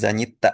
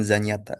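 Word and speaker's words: занята: Oke, bacanya zanyita ya zanyita bukan zanyata. Zanyita karena tekan di A.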